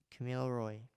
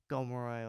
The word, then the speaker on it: Kamilaroi: it the Upper Hunter, and Kamilaroi, or people pronounce it as Gomeroi or Gamilaroi, but I've grown up knowing just Kamilaroi, and a lot of my family pronounce it that way, so that's how it fits with me.